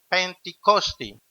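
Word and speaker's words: Πεντηκοστή: Pentecostés proviene de la palabra griega pronunciada Pentikosti, que significa quincuagésimo.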